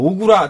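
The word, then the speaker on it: 小倉: 근데 그 오쿠라 호텔이 가지고 있는 것도 오구라 다케노스케라고 네. 또 오구라 컬렉션이 있고 해서 사람들이 헷갈리는데요. 오구라는 소창, 한자로서는 소창이고 오쿠라는 대창, 예. 큰 대자를 써서 이제 약간 발음 비슷해서 오구라 오쿠라 사람들이 소참 헷갈려요.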